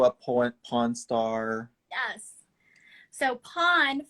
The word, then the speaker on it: Pon: pawn star yes so pawn for those who are unfamiliar it's spelled p-o-n pawn is a proprietary